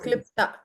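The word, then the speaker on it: क्लृप्त: Mala Klipta. So sound of la is coming.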